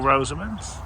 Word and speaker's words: Rosamon: Well, Rosamond's. Some say Rosamond, some say Rosamon. It really depends on where you're from and how you pronounce it.